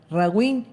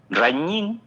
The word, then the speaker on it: Raguiñ: Ragín Ken o decime cómo se pronuncia, eh, Rañín.